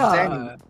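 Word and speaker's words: Zenni: Zenny. It's not spelled with an X, it's spelled with a Z, but you know, That's crazy.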